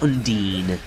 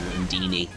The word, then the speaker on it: Undine: Undine, as somebody in the comments in one of the videos very, very loudly proclaimed that I was pronouncing it wrong. So, I will continue to call it Undine now rather than Undini, even though I do